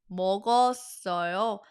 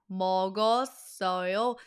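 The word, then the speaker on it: 먹었어요: Now, pronounce it like a native Korean. Meogeosseoyo. Meogeosseoyo. Smooth like butter.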